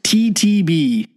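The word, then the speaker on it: (T-T)b: It's spelt parentheses, uppercase T, dash, uppercase T, end parentheses, lowercase b, which is pronounced TTB, or at least that's what I've been told by one of their band members.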